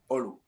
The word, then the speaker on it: Olu: Olou. Yes, that's correct, Olu.